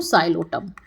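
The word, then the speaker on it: Psilotum: अगर दो एग्जांपल पूछे तो एक नाम और बता देती हूं साइलोटम। ये भी क्या है? पीसाइलेंट है इसमें।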